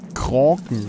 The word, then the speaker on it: Kraken: Also ich habe gehört, dass man Krake sagt. Gewinnt ohne M. Nein, nein, nein, nein. Kraken wird das Ganze original skandinavisch ausgesprochen. Da ist Kraken viel näher dran.